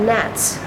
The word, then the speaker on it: gnats: They're called gnats.